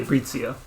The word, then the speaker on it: Fabrizio: It's Matthew Hammond and Jaiden how do you say Fabrizio. So you Americanize it. Yeah. You don't say Brizio. No. Nobody in your family says Brizio.